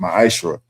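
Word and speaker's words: מעשר: Means 10th in Hebrew. It's pronounced ma'aser.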